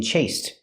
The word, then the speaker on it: chased: The ED is pronounced with a T in chased.